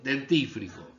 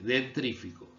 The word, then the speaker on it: dentífrico: Se dice dentífrico, pero ¿cómo dice mucha gente? Dentrífico.